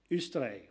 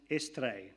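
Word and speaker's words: Eostre: They dilute it by tying it in with an ancient pagan goddess, Ustre, or otherwise pronounced Estre.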